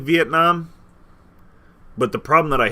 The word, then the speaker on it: Vietnam: I mean, you said it wrong, bro. It's Vietnam. Oh, my bad. Vietnam.